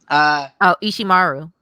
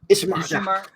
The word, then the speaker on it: Ishimaru: I forget how to pronounce his name though. Ishimaru. Ishimaru.